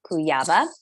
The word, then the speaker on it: Kujawa: Joanna Kujawa with me here today. Yes, I pronounced your last name correctly.